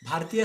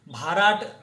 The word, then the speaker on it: भारत: उच्चारण it could be pronounced as, जैसे कि भारत है, ये नॉर्मली लोग BHARAT भारत लिखते हैं, उसको भरत पढ़ सकते हैं, भाराट पढ़ सकते हैं, भरात ऐसा पढ़ सकते हैं।